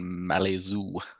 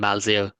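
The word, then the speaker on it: Malzieu: It's Julian Malazoo. It's Julian Malio. Correct.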